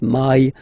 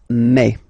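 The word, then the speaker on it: mai: English way in French remember when you combine this a and then e vowels you get the sound e e so really open E okay and then you pronounce it me me okay so don't pronounce e don't try to pronounce it no it's me me so it's not my it's me okay and then here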